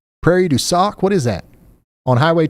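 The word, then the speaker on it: Prairie du Sac: Is that Prairie Dac? Prairie D sock.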